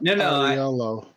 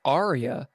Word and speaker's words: Aria: No, the Ariello. Ariello. Thank you. Ariello. Ariello. Oh, what he actually says was Aria. It's just his accent made it sound like Ariello.